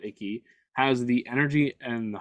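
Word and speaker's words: Ackie: Naomi Aki, that's how you say it, Aki, has the energy and the heart and the passion of Whitney down pat.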